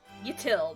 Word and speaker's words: Yatil: Yatil, that's how you say it.